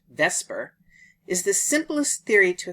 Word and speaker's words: VSEPR: receptors, but have different biological effects Valence shell electron pair repulsion theory (VSEPR, pronounced "vesper") is the simplest theory to explain ...